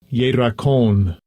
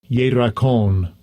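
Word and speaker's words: ירקון: Look at the pronunciation. Strong's H3420. Yerakon. Yerakon.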